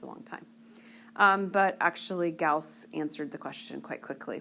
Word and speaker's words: Gauss: Gauss, that's how you pronounce his name, was actually a very famous mathematician, and he was a very bright child.